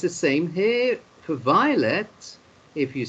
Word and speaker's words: violet: Because you know in French often you don't pronounce the last letter, especially if it's an S or a T, and also sometimes the letter R isn't pronounced at the end.